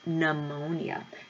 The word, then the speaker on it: pneumonia: about the disease of pneumonia not that P is silent okay find out why it